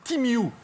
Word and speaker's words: Temu: Alors je vous le dis tout de suite, déjà il faut savoir que Temu, ça se prononce, Timiu.